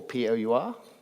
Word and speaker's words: Pour: Alex Kratena is the founder of Pour, or P-O-U-R, P-Hour. How do you pronounce it, Alex? Pour. It's just Pour. It's Pour.